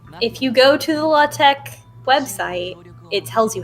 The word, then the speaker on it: LaTeX: doing it yeah well attack which is pronounced the law tech or latex is a document preparation